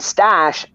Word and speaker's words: Stache: it is from the Stash podcast, and Stash is spelled Stache as in mustache.